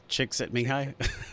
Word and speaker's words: Csikszentmihalyi: book Flow, by the guy, I can never pronounce his name, Mihaly Csikszentmihalyi. I think it's Csikszentmihalyi.